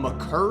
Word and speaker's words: Maker: things one I know the correct pronunciation of Thon Maker's last name is actually Thon mcer but he himself has said he's cool with maker and everyone calls him